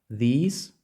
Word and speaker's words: these: ні слова різні знову слухайте ці - це these цей - це this This this чуєте різницю